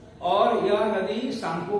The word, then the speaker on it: Tsangpo: Where it is known as the शांगपो। Tibet में इस नदी को शांगपो के नाम से जाना जाता है। शांगपो स्पेलिंग है TSANGPO। शांगपो, टी छुपा हुआ है, इसको हम शांगपो पढ़ते हैं, तो इसको हम शांगपो के नाम से जानते हैं।